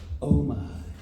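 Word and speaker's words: OMIH: And that is always pronounced oh my.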